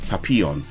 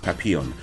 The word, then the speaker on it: Papillon: I know how this is pronounced. It's Papillon. It's actually pronounced Papillon.